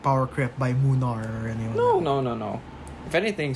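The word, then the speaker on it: Mlynar: We have Munar. Munar. Yeah. Not Milnar. No, that's not how you pronounce it. He's Polish.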